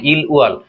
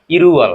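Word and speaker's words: 일월: এপাশে একটি ল রয়েছে, দুটো ল একসাথে যখন হবে দুটো শব্দ, তখন কি হয়, সেটি উচ্চারণটা চেঞ্জ হয়। তাহলে কোরিয়াতে এটি কি হবে, ইল ওয়াল, এটি কি হবে, ইরুয়াল।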